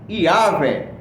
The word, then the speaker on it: Iavé: Hoje, a maioria dos estudiosos pensa que a pronúncia original do tetagrama bíblico era Iavé.